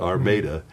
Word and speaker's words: Armada: small Michigan farm town, Armada, spelled like Armada, Armada, Michigan, and so a close rhyme, he called me the Armada Tomato.